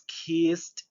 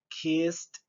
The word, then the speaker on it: kissed: Entonces la terminación ed la vamos a pronunciar como una letra T.